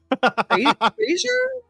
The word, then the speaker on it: brazier: Brazier. Is it a bra? B r a z i e r. I think it's brazier.